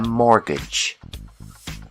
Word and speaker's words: mortgage: When you need a loan to buy a house, we call this loan a mortgage. The T is silent.